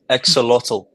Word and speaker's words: Axolotl: starter, and help me out, Bear, is it Exoltol? To my understanding, is Exolotl.